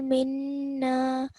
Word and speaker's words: منا: Do you see the alif after the noon? Okay, so let's try again. ربنا تقبل منا إنك أنت السميع العليم.